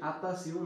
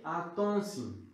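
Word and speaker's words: attention: সাবধান, আমরা অনেকে বলি আতাসিউ, না, এটা আতাসিউ উচ্চারণ না, এটার উচ্চারণ কি? আতনসিউ, আতনসিউ, আতনসিউ, ঠিক আছে?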